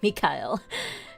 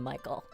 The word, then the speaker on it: Mikhail: be our allies yes i am pronouncing it as mikael because i i can't i can't call him michael but if you have